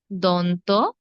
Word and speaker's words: দন্ত: মূর্ধন্য স দন্ত স আমরা আসলে অনেকেই দেখুন উচ্চারণ করে তালিব্যস মদিনাস্য এগুলো ভুল সঠিক কি হবে তালব্য তালব্য তালব্য স তারপর মূর্ধন্য স তারপর দন্ত স দন্ত স তালব্য স মূর্ধন্য স দন্ত স এভাবে হবে হ্যাঁ এখন তিনটি স